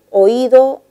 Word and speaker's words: oído: son correctas desarrolló su oído fonema tico en lengua quechua desarrollo lleva tilde porque es una palabra aguda pero la palabra oído no está tirada recuerda de que la y está sonando más entonces debió de reconocerse